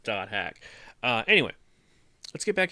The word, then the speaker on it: .hack: right where the doted it says do hack so you're supposed to pronounce it do hack uh anyway let's get